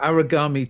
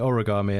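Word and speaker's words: Aragami 2: got for me sir i've got aragami too which i've probably pronounced completely wrong um i think that's correct i've heard people i've had people call it origami and that that was funny that's where i want to go every time yes looks awesome this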